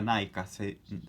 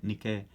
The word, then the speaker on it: Nike: No se dice Nike, no se dice Nike, se dice Nike.